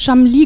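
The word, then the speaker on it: Cholmondeley: ja so richtig ausgesprochen er wird chamli gesprochen es ist ein englischer Name ich weiß er sieht nicht so aus wie er gesprochen wird lassen Sie mich Ihnen ein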